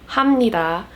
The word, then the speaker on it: 감사합니다: be another pronunciation video explaining why kamsahamnida is pronounced as hamnida and a bunch of